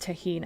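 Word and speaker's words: tahini: Pronounced tahine. I should have known that.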